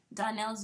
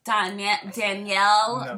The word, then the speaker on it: Donnell: Donnell's very common, and 90% of the time they get his name wrong. Listen. They call him Danielle, Darnell. I get Darnell. Listen. Darnell. Donnell is not common.